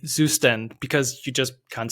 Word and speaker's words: Zustand: My my approach was that I I know of course the word, but I saw like you and other YouTubers say "Zustand" because you just can't say the word correctly in German.